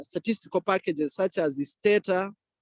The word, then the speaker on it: Stata: Similarly, even when you're using other statistical packages such as the Stata, others pronounce it as Stata, but this is Stata.